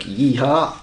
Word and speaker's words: Yetholm: starts in Edale and finishes in Kirk Yetholm or Kirk Yeehart, apparently. That's the correct pronunciation. That's the correct pronunciation according to Damien Hall.